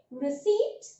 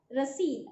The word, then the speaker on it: receipt: So guys, in English you have to say receipt and in Hindi it is receipt.